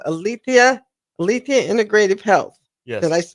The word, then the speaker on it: Alethia: are Sher yeah surrounding areas it's called althia althia Integrative Health yes did I pronounce that correctly you did thank all right